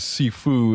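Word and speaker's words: 師父: I don't know that I think the actual Chinese pronunciation is like Shifu I think it depends on which region yeah so but it's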